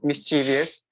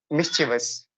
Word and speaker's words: mischievous: uh mischievous okay mischievous so you pronounce mysterious but if I talk about the correct pronunciation so it's mischievous mischievous can you can